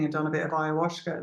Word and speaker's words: ayahuasca: Ayahuasca. Is that how Yeah. you pronounce it? Okay. Ayahuasca.